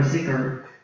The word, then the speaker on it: dhikr: And dhikr or zikr, it's the same word, just a different pronunciation, means to remember.